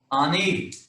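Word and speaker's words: אני: What is how are we going to pronounce that one? Ani, ani.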